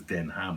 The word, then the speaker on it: Denham: and stuff like that but the pronunciation the name itself is den ham which is not denim and it has nothing to do with the material so that's why i